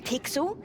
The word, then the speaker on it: Pixel: name's not weird guy i'm pixel it's easy to remember because it rhymes with pickle so it does i'm